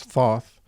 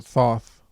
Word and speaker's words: Thoth: as wisdom relates to Thoth as wisdom and magic relates to Isis and also Thoth. I always say Thoth because that's the way it looks, but proper pronunciation is Thoth, I think.